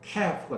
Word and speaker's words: calf: 그래서 클 붙어서 calf가 된 거예요. calf는 크다 뜻이에요. 크게 붙어 있다 뜻이에요. 그래서 크게 붙어 있어서 클 붙어서 calf가 된 거예요. L이 발음이 안 되죠.